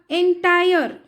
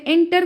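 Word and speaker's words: entire: He carved the एंटायर, sorry मैंने यहाँ पे एंटर कहा भी गलती से, एंटायर है ये, मैंने ध्यान नहीं दिया उतना। एंटायर संपूर्ण, एंटायर, प्रोनाउंसिएशन इसका सही है एंटायर।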